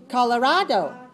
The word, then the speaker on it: Colorado: 4 syllables. Stress the third. Colorado.